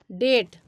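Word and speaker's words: debt: है अब नेक्स्ट देखिएगा अगर किसी वर्ड में बी टी के पहले आता है तो वहां पर भी बी साइलेंट हो जाता है अगर किसी भी वर्ड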